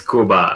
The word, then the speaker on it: Kuba: Yeah, it's Cuba, like the country, like if you What is spoke going on, everybody? Spanish, Welcome back. so you just pronounce it as you see it. Okay, Cuba.